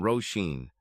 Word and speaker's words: Rosheen: some things PJ explained my name is rosheen Baker she said shaking PJ's hand firmly pronouncing her name roshen I don't think I've